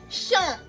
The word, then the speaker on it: champ: We have champ. You're using your nose to pronounce it, champ, which means field.